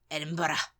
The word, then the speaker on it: Edinburgh: of as you said and it's Edinburough Edinburough yeah yeah Edinburgh um I think we say Edinburg edenburg yeah edenburg Edinburg